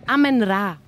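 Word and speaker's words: Amenra: How do you pronounce it? Amen Ra.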